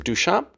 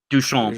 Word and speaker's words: Duchamp: Remember, uh, Marcel Dukamp, how do you pronounce his name? Duchamp. Duchamp.